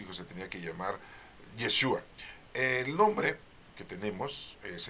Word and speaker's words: Yeshua: es su nombre no si es yeshua bueno pues para que doy en adelante si quieres pues ahí tú se lo puedes este estar este pronunciando de esta manera más correcta No qué sigue diciendo